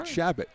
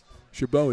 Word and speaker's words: Chabot: Because then I would have said Shabbat. Right. Yeah. Well, but you could have been wrong. Shabbat sounds like a holy day or something. Yeah. Chabot is actually how you say it.